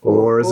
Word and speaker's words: hours: They would have said Oars and Oars. And it's dodgy. Rude. It's a play on hours, but whores as well.